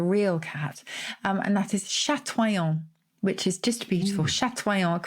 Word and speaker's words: chatoyant: It's in the dictionary, Chatoyant. Chatoyant.